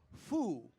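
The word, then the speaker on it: 福: today is a character that is / Matt pronounced foo and foo means good fortune blessings or happiness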